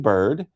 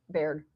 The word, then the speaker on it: Baird: And then we have Bird, who is she will be Baird. Did I spell it wrong? I don't know if you spelled it wrong. You just said it wrong, I think.